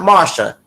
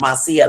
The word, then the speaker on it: Marcia: festival back in 1999 Marcia it's not Marsha it's pronounced Marcia like it's in Spanish International that pyramid skin